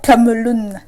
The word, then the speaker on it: Cameloun: Alors, Cameloun, c'est comme ça que ça se prononce.